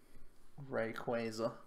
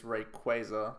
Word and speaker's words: Rayquaza: board to start tackling our big old ray rayquaza apparently the RIT the correct way to pronounce it is rayquaza but I'm so used to saying Rayquaza so